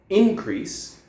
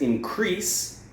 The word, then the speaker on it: increase: Okay, so this one, increase, is the noun form, whereas increase is the verb form, okay? So can you hear where I'm putting the stress?